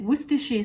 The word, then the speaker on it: Worcestershire: Worcestershire sauce?